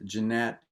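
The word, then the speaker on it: Gennett: so jeanette records it looks like gannett it's pronounced jeanette it was a small town us record company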